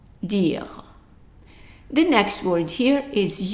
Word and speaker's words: dire: The E at the end is silent, meaning that we only read the D-I-R, and that is dire, dire.